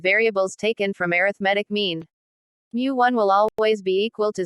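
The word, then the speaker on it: μ: moment is denoted by Greek letter pronounced as Mu hence the first moment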